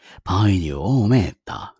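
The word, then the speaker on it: παιδευόμεθα: Paidiuomai, Paidiue, Paidiuetai, Paidiuometa, Paidiueste, Paidiondai. And note here, the first person plural. If you look carefully at the words, the accent is on the omicron and not the upsilon.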